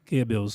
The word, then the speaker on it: Goebbels: O Goebbels, querido ET, qual é a pronúncia correta? Goebbels.